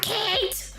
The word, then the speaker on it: Kite: My name is Kate. That's not my name. K. Like the thing that flies.